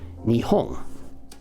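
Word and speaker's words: 日本: In other words, in Japanese, if we pronounce it, Nihon.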